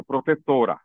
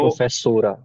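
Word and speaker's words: profesora: सर ठीक है तो इसका नेचुरल स्पेस कहां पर पड़ना चाहिए इस पर तो पर तो इस वर्ड को जब बोला जाता है इसको ऐसे ही बोला जाता है प्रोफेसोरा तो प्रोफेसोरा हां सुनने में लगा कि तो पर स्ट्रेस है प्रोफेसोरा राइट रेगला इसमें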